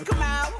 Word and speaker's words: Kamau: I said my name's Kamau, rhymes with Kapow with me.